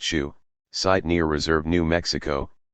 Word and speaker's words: Su: larger than extended families the Su pronounced Shu site near Reserve New